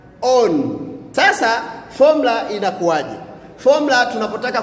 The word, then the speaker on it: on: Na namba tisa utamkwa dokuz. Na namba 10 ni on. On.